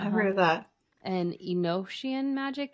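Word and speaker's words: Enochian: oh yes yeah I've heard of that and inosan magic it's spelled e n o c h i a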